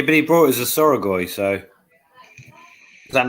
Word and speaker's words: Soragoi: There is no A in the start of Soragoi. It's S-O-R-A.